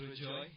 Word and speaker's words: Rejoy: എന്റെ കല്യാണം സീനിയുടെ കല്യാണം കൂടെ പോയ പതിനാ ആരുടെ എന്റെ കല്യാണം കേട്ട ആവശ്യം Liju A lot of people got his name wrong. His name is Rijoy.